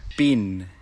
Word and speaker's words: been: Been. Bin. Bin. Have you bin to America?